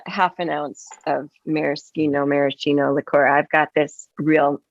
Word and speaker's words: Maraschino: very Americano no but you say maracino like it's Italian like Americano Cherry I don't know that's